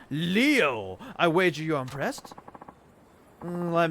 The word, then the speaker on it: Leo: most vulnerable leo ayanokoji it's written with the kanji for lion to be sure and it's pronounced leo i wager you're impressed